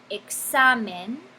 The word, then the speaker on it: examen: Y tiene el énfasis sobre la penúltima sílaba, examen.